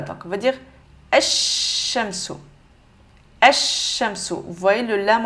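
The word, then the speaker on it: الشَّمْسُ: On va dire le lam, on va venir le supprimer. Donc, on va dire alif directement vers la lettre avec shadda. Donc, on va dire ash-shamsu.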